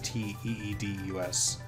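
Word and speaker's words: Tidus: Just for clarification, I'm gonna say Titus. I think the official pronunciation is Titus. Teedus is how it should sound.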